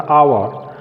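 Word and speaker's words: hour: उसी तरह से यहाँ देखते हैं अ उच्चारण होता आवर, तो यहाँ जो ए का प्रयोग है वह ए का प्रयोग नहीं होगा बल्कि एन का प्रयोग होगा, एन आवर, एन आवर।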